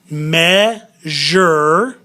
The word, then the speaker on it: measure: We got measure. Measure. Z-H-U-R sound with the S-U-R-E.